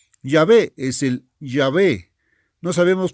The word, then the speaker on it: Jehová: falsamente se llama Jehová, porque Jehová no es la palabra correcta. A eso me refiero. No llamado falsamente, pero debo decir pronunciado falsamente Jehová. Yahvé es el Yahvé, No